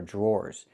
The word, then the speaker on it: drawer: The DR makes a J sound like in juice and jump. Plus the R, J, jr, jr. Then we have the OR sound like more and door. Drawer. Drawer.